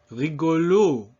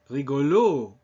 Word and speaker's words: rigolo: The first O is in an unstressed position, and so it's not rigolo, but rigo.